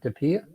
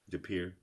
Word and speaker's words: De Pere: on highway 41 that west appear is how you pronounce it de pere de pere yeah yeah uh yep uh